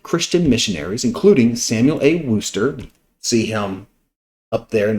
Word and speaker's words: Worcester: about wster V Georgia I know it's weird but that's pronounced wster and was about how